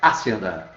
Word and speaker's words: hacienda: E a sílaba tônica dele qual é? Hacienda. Né? Não é hacienda, né? É hacienda. Então a segunda é a tônica.